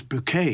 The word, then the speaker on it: Bouquet: you can possibly do bucket is such a gutural sound isn't it sort of a bucket of welks a bucket of manure for want of a better expression whereas bouquet is fragrant bouquet of flowers it's f more in